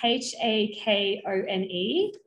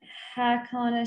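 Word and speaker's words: Hakone: It's the full Latin I can never pronounce, but it's the abbreviation is Hakon, H-A-K-O-N-E, Hakon, and then the other part of it is, it's long.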